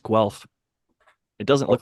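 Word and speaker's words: Guelph: what is it wealth it's liketh okay it's pronounced Guth it doesn't look like that but it's pronounced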